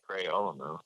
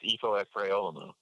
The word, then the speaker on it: Ifo Ekpre-Olomu: Ifo Ekpre-Olomu. It's Ifo Ekpre-Olomu.